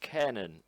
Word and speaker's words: Kanon: You're correct. It's pronounced Kanon, apparently.